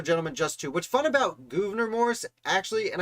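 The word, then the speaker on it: Gouverneur Morris: just2 what's fun about governor morris actually and i know it's governor morris but it feels like governor when i look at how it's spelled uh the thing about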